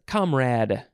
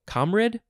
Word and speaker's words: comrade: Next is comrade. You could say comrade or comrade. I guess the Brits say comrade. Comrade, because that's how it's spelled.